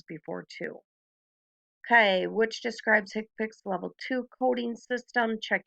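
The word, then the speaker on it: HCPCS: assignment so we' talked about hipic before it's pronounced hipic it is level two we have two levels level one is the CPT hipic level two is National codes so one thing to remember with hick Pics level one that they're going to be the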